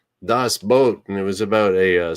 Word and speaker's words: Das Boot: pretty famous movie called Das Boot, and it was about a submarine. And so a boat is a boat. It's kind of pronounced, it spells like boot, but the Germans pronounce it boat.